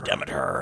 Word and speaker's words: Demeter: The last voyage of the Demeter. Demeter. I'm excited for that. That's coming out soon, isn't it? So it's not the Demeter. It's the Demeter. It's not Demeter. Well, it's the British pronunciation of it.